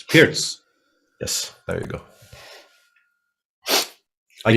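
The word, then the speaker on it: Pirc: Nashvillian chess is saying now pronounce Pirts. It's Pirts.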